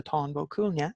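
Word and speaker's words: Táin Bó Cúailnge: vulture have you ever wondered what is the tombow Cunha or even how to pronounce the tombow Cunha with a cattle rate of Cooley as it is in English under Tonga Cunha in Irish so I have put together a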